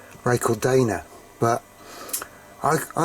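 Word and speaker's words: Racal-Dana: which is the older ray called Donna I call it ray called Donna I think he really should be pronounced ray called Dana but I I like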